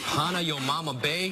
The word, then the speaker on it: Hanauma Bay: I don't know how to pronounce that. Oh, okay. Hanauma Bay.